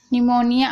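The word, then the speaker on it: pneumonia: तो इसका एग्जांपल देखते हैं अब देखिए अमोनिया निमोनिया आप देख रहे हैं यहां पर पीस साइलेंट है तो यहां पर ठीक है शाम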